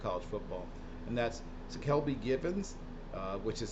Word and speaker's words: Ckelby: any level of college football and that's to Kelby given uh which is spelled CK l b y g i v